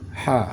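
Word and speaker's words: ح: di bagian tengah kerongkongan ha ha saat kita baca saat kita membaca huruf Ha seolah-olah Ada desis angin halus yang kita masukkan atau kita keluarkan dari kerongkongan atau ke dalam kerongkongan seolah-olah saat kita membaca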